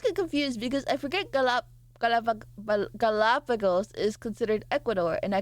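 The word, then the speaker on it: Galápagos: How do you pronounce Galapagos? I know the American way. Galapagos. Oh god. Galapagos. So it's like Pago. Galápago. Galapagos. Galapagos. Galapagos. I'm so Americanized.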